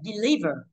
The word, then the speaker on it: deliver: Và deliver, cái quy tắc của mình là nếu mà đe mà đọc là đi thì trọng âm sẽ rơi vào sau nó, thì nó sẽ là deliver.